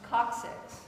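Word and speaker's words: coccyx: to come from what is the tailbone called coxics say coxics coxic coxics coxic how do you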